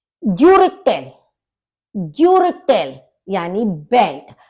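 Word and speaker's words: Gürtel: ज्यूरिटेल, ज्यूरिटेल यानी बेल्ट। अब यू के ऊपर उमलाउट है तो इसका हम प्रोनाउंसिएशन कैसे करेंगे? यू, तो ज्यूरिटेल, ज्यूरिटेल बेल्ट।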